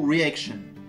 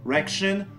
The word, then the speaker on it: reaction: Donc, on ne mélange pas les deux voyelles et on prononce chaque voyelle séparément plutôt que de dire reaction ou encore riction.